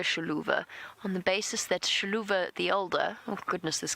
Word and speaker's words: Xiluva: v a sha so the sh sound I'm not pronouncing it 100% correctly but the x is a sound in the local language and as I said